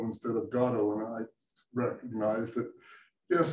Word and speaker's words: Gado: So anyway, it is my pleasure to turn this over to and Gado. Okay, thank you. When you knew me, it was pronounced Gado, but that was a problem with identity.